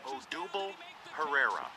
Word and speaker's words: Odubel Herrera: Here's his name, pronunciation according to the internet. Odubel Herrera.